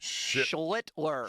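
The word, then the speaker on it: Schlittler: Cam Schlitler.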